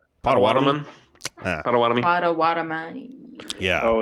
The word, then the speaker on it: Potawatomi: How the fuck is it pronounced? Potawatomi.